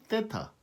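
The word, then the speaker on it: θ: 마무리 됩니다 자유가 글 세터 라고 합시다 정확한 발음은 떼 타 ha 때 타 리 th 발음이 뻔데기 발음이 된 이유가 여기 있습니다 자 단지 엔트 우리가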